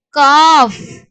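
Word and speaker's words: cough: ஸோ இதை வந்து நம்ம எப்படி வந்து ப்ரொனவுன்ஸ் பண்ணுவோம், உச்சரிப்போம் அப்படின்னா காஃப். அந்த ஜிஹெச்சுக்கு வந்து எஃப்ல முடிப்போம்.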